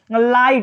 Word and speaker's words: light: तो देखिए जैसे होता है लाइट, LIGHT, लास्ट में क्या है GST, तो इसमें GH क्या रहेगा, साइलेंट, तो हो जाता है लाइट।